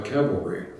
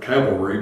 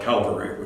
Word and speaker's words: cavalry: oh by the way I think the word cavalry must be that was mispronounced word in the whole English language so many times it comes up Calvary which I like my tongue to keep from correcting people and on November I